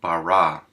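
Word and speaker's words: בָּרָא: comets so we get bara notice we pronounced the b or the bait rather as a b not a v because we have that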